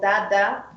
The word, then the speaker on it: dada: Then we have the D, which is D, like for example, dada, which means sister. And it's also similar like dog. So it's the same pronunciation as in the English alphabet as well.